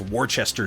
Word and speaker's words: Worcester: it something completely different i hear the way you guys pronounce worst pronounced warchester sure it's like worcester you just skip most of the letters in there so you can take your